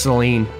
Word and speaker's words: Seline: And I remember Yeah, it was spelled with a Y. It was Seline. But it was pronounced Celine.